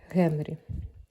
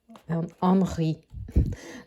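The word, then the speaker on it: Henri: Генрі французькою Анги читається поль Анг сухе ігристе вино ціна його 3,15 ось так мінібарси це ось такі батончики цукерки шоколадні з горішками, з ногою.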